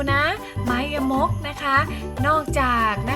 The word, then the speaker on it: ไม้ยมก: กัน เรื่อง ไม้ ยมก นะ คะ อ่าน ว่า ไม้ ยมก นะ คะ เครื่อง หมาย นี้ นะ คะ อ่าน ว่า ไม้ ยมก นะ คะ อ่าน ออก เสียง ตาม คุณ ครู นะ คะ ไม้ ยมก นะ คะ อ่ะ หลัก การ ใช้ ไม้ ยมก